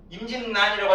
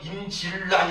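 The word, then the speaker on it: 임진란: 임진난이라고 하지 임질난 이렇게 발음 안 해요, 그죠?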